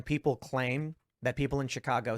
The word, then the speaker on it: Chicago: now and people like I will jokingly say Chicago and then people think it's a literal pronunciation because they exposure to like this word I'm like no it's ah it's always been ah as long as I've been alive but the fascinating thing